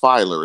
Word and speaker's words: Feiler: and I think it's it's Feiler is that how you pronounce it finally yes and I think filer